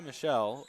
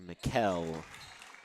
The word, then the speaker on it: Mikkel: It's actually pronounced Jaya Mikkel. It is Mikkel.